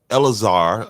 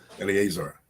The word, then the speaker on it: Eleazar: over there with uh elazar I think that's how he pronounced his name elazar uh Eleazar Eleazar my bad I said I forgot to put the A on it but uh Eleazar and